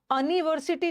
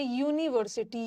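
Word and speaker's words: university: Umbrella umbrella और यहां अनवर्सिटी नहीं आ रहा। यहां यू का प्रोनंसिएशन है यूनिवर्सिटी। य य यू यू और अ किस में आता है?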